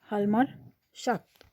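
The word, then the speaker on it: Hjalmar Schacht: recovery to the economics लमर शक्त लमर जे ए will be silent लमार शाक्त हु एम at full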